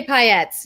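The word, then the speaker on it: paillettes: do you say it correctly scott hyatts lay payettes yeah just go firefly got him before they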